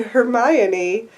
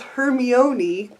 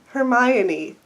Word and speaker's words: Hermione: I spent years and many arguments with friends thinking it was Hermione. Even the pronunciation section in this book didn't help because I will show you what I read. Here's what I read. Her-me-o-ni.